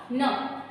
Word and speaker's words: numb: यहाँ पे आपने सुनने के लिए यूज किया numb. यहाँ पे बी जो है वो साइलेंट, बी जो है वो साइलेंट.